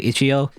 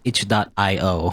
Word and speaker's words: itch.io: way i always say ichio even though i suppose even though i believe the creators of that website said like it's supposed to be it's supposed to be pronounced itch dot io or whatever but it's